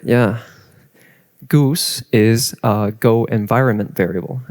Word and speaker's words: GOOS: goose is a go environment variable and that is how it's pronounced.